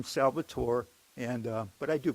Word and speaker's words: Salvatore: call me Salvatore but they tend to confuse me with the Latino element which is pronounced Salvador with a d I'm Salvatore and uh but I